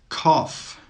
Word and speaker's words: cough: Cough, cough. Laugh, laugh. Tough, tough. The GH in all of these words is actually pronounced as an F.